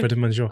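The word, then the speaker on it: Prêt à Manger: Prêt-à-Manger.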